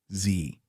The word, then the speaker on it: Xe: In February 2009, Blackwater Worldwide officially changed its name to Z Services LLC, pronounced Z.